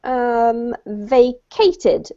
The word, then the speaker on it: vacated: And the last one was vacated. Vacated. Vacated. Yep, just like vacation. Same pronunciation.